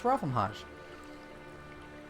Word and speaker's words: Ravamhaj: But yes, if you ever want to know how it's pronounced, it's Ravamhaj. Yes.